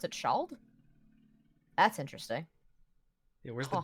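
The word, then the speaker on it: Ceald: speaking siaru that's the language also the place Keel is apparently pronounced the schald oh he did mention the shelled so is that the place Keel but it's the so you pronounce it shald that's interesting yeah where's the D ude where's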